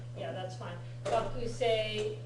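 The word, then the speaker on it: がくせい: Yeah, the audio, it does sound like gakusei. Okay. Right, yeah, that's fine. Gakusei is when you're enunciating every syllable, but gakusei is normal.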